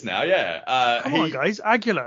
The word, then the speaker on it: Aguila: Aguila, it's not hard. Aguila.